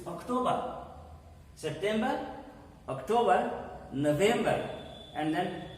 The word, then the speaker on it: October: Here it is not Octu, it's October.